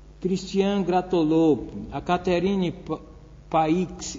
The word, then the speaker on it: Paix: Christian Gratolot, a Catherine Paix, eu acho que pronuncia Paix, P-A-I-X, francês.